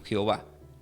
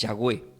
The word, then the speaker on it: Yahweh: cuando le aparece Dios Aquí todo leen como como Jehová que es yahwe el verdadero nombre quiero decirles por eso pronuncio así para los que no saben Entonces cuando le apareció Yahweh le dijo Yo soy